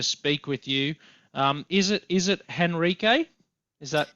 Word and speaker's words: Henrique: Oh, look, if I want to be very specific, it's Henrique, but I know it's very difficult for English-speaking people to pronounce that, so I'm fine with Henrique.